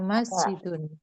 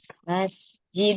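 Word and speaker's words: مسجدٌ: Ahza baitun la hadza masjidun. Masyaallah. Hza masjid. Masjidun. Masjidun. Jangan sampai lupa ditanwinkan ya. Jangan sampai lupa dibaca. Masjidun. Jangan masjid aja tapi masjidun ya.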